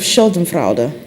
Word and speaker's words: Schadenfreude: I was thinking of Schadenfreude. Yes, That's how you in fact, pronounce it.